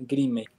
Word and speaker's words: Grimace: Se llama escala Grimay. Se escribe Grimace con C, pero pues, pensaría que se pronuncia Grimay, donde sí hay una